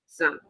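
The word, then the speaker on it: XAMPP: Uh, ZAMP is spelled X X A M P. Oh, no. X A M P. Zam.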